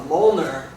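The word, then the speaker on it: Mjolnir: a Moler and uh it's spelled very weird it doesn't uh it's not phonetic it's m j o l l n i r and it's uh it's a reference to Norse mythology actually Thor is the name of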